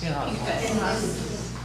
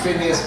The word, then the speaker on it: Pinchas: And do you guys pronounce the name Phineas or Pinchas? Pinchas. I say half and half. I'll say Phineas Pinchas, okay?